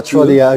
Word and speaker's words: Trottier: Can I just call you Trot? You can. Trot or Trottier. Oh, Trottier, okay, please. Trottier would be that my father was French, so he would say Trottier.